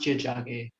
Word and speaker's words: Tiohtià:ke: Yeah, it's pronounced Tiohtià:ke.